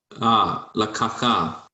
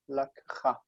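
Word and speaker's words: לקחה: Lakacha. lakcha. Lacha. But get that k. Lakcha.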